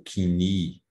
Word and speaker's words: koiné: É o chamado grego koiné, ou kini, ou koiné, existem várias formas de pronunciar, que significa comum.